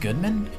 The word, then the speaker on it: Goodman: It's pronounced Goodman?